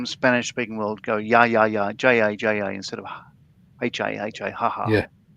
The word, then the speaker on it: ja ja: That people from the Spanish speaking world go ja ja instead of ha ha. Yeah. Well, the J would be in what we write as a J would be pronounced as an H in Spanish.